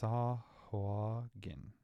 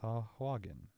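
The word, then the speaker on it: Sahuagin: It's Sahwagen. Oh, Sahwagen. Emphasis on the length first syllable. The G in the third syllable is hard.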